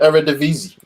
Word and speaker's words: Eredivisie: I can't pronounce it. Eredivisie.